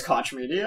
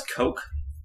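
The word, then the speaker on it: Koch Media: cotch media okay well I think it's coke coke yeah CU like the Coke brothers is that's how they spell their name oh I don't know so it's probably pronounced Coke but uh Toy Soldiers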